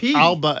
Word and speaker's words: Alba: you pronounce it alipa in the G ala Alba in English it's a soft pronunciation from the GIC alipa in the GIC